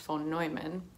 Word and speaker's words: von Neumann: later told me that his name should actually be pronounced phone neumann and i named sosa